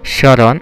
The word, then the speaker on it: স্মরণ: এক, শব্দের আদ্য ব্যঞ্জন বর্ণ ম ফলা যুক্ত হলে সাধারণত তার উচ্চারণ হয় না, কিন্তু প্রমিত উচ্চারণ ম ফলা সংযুক্ত বর্ণটি সামান্য নাসিক হয়, যেমন স্মরণ, স্মারক, স্মৃতি, শ্মশান ইত্যাদি।